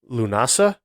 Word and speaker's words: Lughnasadh: But they have it written out the way you would pronounce it. I'm believing the way it would be pronounced is Lunasa.